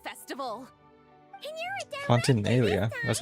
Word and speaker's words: Fontanalia: And you're a director Fontanalia. this time. That's how you pronounce it.